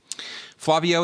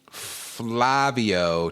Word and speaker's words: Flavio: Flavio tasks Mario with searching the rest of the island. Is it Flavio, do you think? Am I saying it right?